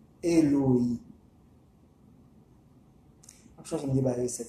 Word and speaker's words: Eloi: Qui s'écrit Eloi, mais qui se prononce Eloï.